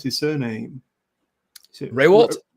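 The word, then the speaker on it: Rehwoldt: How do you pronounce his surname? Is it Raywalt? Ray Waltz, yes.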